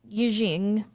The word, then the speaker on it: Yijing: Oh my god, I Ching or Yijing, if I'm pronouncing that correctly, usually translated as a